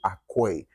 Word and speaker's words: Acquoi: And then my last name is Akoi, which is spelled Acquoi.